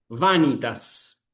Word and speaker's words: vanitas: El acento va acá en la antepenúltima sílaba. vanitas, ¿me explicó?